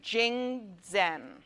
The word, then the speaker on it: Jingdezhen: I'll spell it for you, because I'm probably pronouncing it wrong. Jingdezhen. Gdzhen. Jingdezhen.